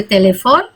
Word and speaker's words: téléphone: Vous avez un numéro de téléphone, ya, numéro de téléphone, karena ini aksannya 2 di E ini, jadi bacanya tele, ya, bukan telepon, tapi telepon. Jadi dibaca E yang kedua, ya.